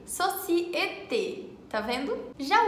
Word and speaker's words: société: O primeiro se pronuncia E, como em université ou société. Tem o som E com a boca assim, como se fosse sorrindo, sabe? E, société.